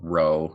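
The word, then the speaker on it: Rho: No, it's shaped like a P, but it's pronounced R.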